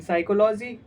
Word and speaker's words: psychology: In psychology, P is silent.